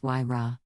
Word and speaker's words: Huayra: Then in 2012 the new model arrived, the Huayra, pronounced Huayra.